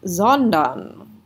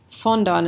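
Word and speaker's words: sondern: rather right so zondon it's really tempting to think that this that this is an f right um but if you uh the more experience you have with your vocabulary you'll know that fondon is not a word fonda there's no there's just it's just nonsense so you think to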